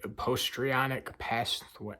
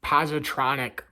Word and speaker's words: positronic: The surgeon hesitated a moment, as though the question fitted nowhere in his allotted postronic pathways. So I pronounced it wrong. Positronic pathways are a thing